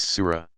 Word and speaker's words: Sura: arranged in 114 sections called Suez pronounce Sura Mohamed's earliest revelations tend